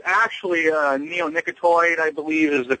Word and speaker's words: neonicotinoid: Well, it's actually a neonicotinoid, I believe, is the correct pronunciation.